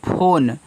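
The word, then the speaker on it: phone: देना भूलना मत उसको पी एच ओ एन ई देखो लिखा है फोन तो पी एच से फ ओ से ओ की मात्रा तरफ फो केवल एन तक ही उच्चारण होता है। तो एन से आपका ना फोन हो गया क्योंकि इ आपका साइलेंट होता है इंग्लिश में।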